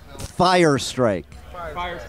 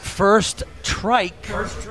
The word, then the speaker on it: Firstryke: funny they missed it what' you call us fire strike right out of the gate and but I had the spelling right just not the pronunciation that's how it was in the med how about first trike like my first trike ever wow strike yep one